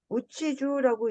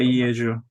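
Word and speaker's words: 家中: 이해 우치주라고 읽으셨는데 이거 주라고도 읽어요. 이해주입니다. 이해주. 이해주. 예. 온 집안. 예. 주는 온 집안입니다. 우치주라고도 읽나요? 뭐, 이게 이해주로 이- 많이 읽죠. 우치주, 네. 우치주라는 말 읽기도 괜찮습니다.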